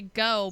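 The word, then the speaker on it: Geaux: You know, that's just like how when like people say go, but it's spelled like GEUAX or whatever. LSU fans. Yeah, when Weirdo. they're like go and you're like, but there's an X in there, and all these other letters, Unless it's Van Gogh.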